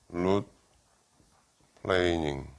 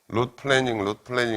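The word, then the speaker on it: root planing: 영어로 룻 플레이닝, 룻 플래닝 이렇게 발음하는데 그건 틀렸고 룻 플레이닝, 플레인 어떤 평면이라는 플레인이라는 게 동사로 쓰면 이렇게 평평하게 하다 뭐 그런 뜻이거든. 룻 플레이닝 해가지고 여기에 있는 찌꺼기들을 깨끗하게 없애주는 거야.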